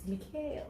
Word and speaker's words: Micheal: I had to learn that the E come before the A, and it did very serious about it.